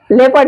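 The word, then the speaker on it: leopard: हुआ है people people यहां ओ का आवाज नहीं हो रहा है ओ का साउंड नहीं हो रहा है साइलेंट हो रहा है वो लेपर्ड लेपर्ड यहां पर भी ओ साइलेंट है अब देखते हैं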